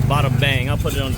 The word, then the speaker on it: Battambang: That's not bottom like an O-M, that's an A-M. It's spelled like Battambang.